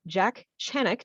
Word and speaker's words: Jack Chanek: i'm super excited that my first guest is jack channick did i pronounce that right you did you're like the